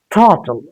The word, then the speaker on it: throttle: But here we simply say throttle, not till. Here it will become like this till. But here if you look at this T and L, no vowel sound between these two consonants. So it's not till.